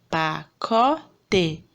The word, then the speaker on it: pacote: A sílaba tônica é o có. Pacote.